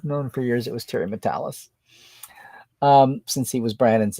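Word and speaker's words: Terry Matalas: see online or what showrunner for season three Tara mattelis why do I call Terry's name wrong I've known for years it was Terry matalis um since he was Brandon's assistant the end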